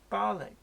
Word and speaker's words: Barnoldswick: Gilpin Ballack near Qom Barnoldswick bollock all right yeah there's a lot of these places unless you hear the locals pronounce them you would be none the wiser mark.wilson isn't it funny